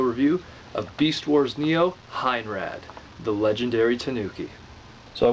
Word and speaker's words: Heinrad: from Beast Wars Neo Heinrad. Sometimes called Heinlad, although because the Japanese don't possess L's in their language per se, or the pronunciation of it, we're going to go with Heinrad.